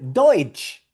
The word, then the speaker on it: Deutsch: Y cuando tú veas en alemán esta combinación T, S, C, H, vas a pronunciar ch, cha, che, chi, cho, chu.